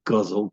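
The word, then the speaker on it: ghazal: yes forgot about that because it's all pronounced like guzzle puzzle the developed in Persia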